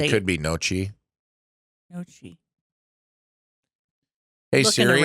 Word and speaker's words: gnocchi: I think the G is silent. I can remember how it sounds, but I can't remember how to say it. It could be Nochi.